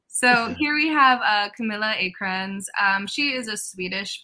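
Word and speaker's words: Camilla Åkrans: makes it yeah so here we have uh camilla acrons um she is a swedish photographer so technically her name is pronounced like camila ocon but the number of times i listen to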